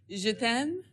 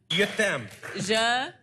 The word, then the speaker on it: Je t'aime: How will we pronounce I love you in French? Je t'aime. Je t'aime.